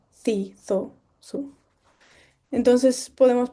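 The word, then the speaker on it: ξ: La si se pronuncia como nuestra x normal, pero vale memorizarse también estos caracteres.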